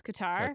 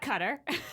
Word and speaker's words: Qatar: also going to explain how to properly uh pronounce Qatar Qatar and uh it's definitely not cutter it is definitely not